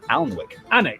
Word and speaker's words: Alnwick: before finishing up in Alnwick, which is near Alnwick. Alnwick. Did he say Alnwick? He said Alnwick. Yeah. Because I feel like it's pronounced like the. He took out the L, he took out the L.